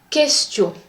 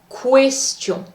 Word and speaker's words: question: Par exemple, qui, quand, question. The pronunciation of the last word is not question.